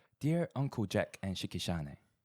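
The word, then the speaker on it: Shicki Shanae: Is it Shikishane? Is it how you pronounce it?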